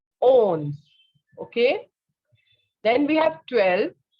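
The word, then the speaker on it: onze: on repeating after me okay so 11 is owns very good 12 is dues 13 trills 14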